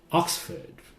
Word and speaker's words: Oxford: Oxford. Okay, Oxford. So this part sounds like Ford. Oxford.